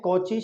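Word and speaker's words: Cauchy: कुछ लोग इसको काशी भी कहते हैं, है ना, कुछ पढ़ने वाले, प्रोनाउंसिएशन का थोड़ा फर्क होगा, काशी भी कहते हैं, वैसे हम लोग कॉची हमने पढ़ा तो कॉची ही कहेंगे, कॉची शेवार्ड असमीका कहेंगे, इनइक्वालिटी यानी कि असमीका।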